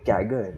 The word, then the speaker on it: CAGR: people on the podcast how do you say cagr ah you actually say the word kagger like some kind of